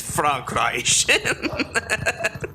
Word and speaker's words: Frankreich: It's Frankreich. That, I-Y is basically pronounced as E in English, but held a bit longer.